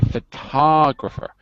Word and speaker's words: photographer: You should actually say photographer. Put the stress on second syllable.